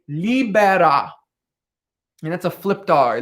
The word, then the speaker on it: libera: that's a flip tar libera libera libara me say me and you can do a little fun with that r if you can roll your rs you could put a little on there is obviously death and